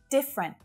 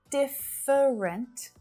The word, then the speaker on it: different: Different. Not different, different, different, just two syllables.